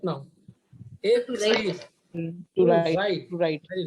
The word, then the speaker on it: écrire: Écrire. Suppose normally I'm saying écrire, creed. But whenever there is R, we have to pronounce like écrire.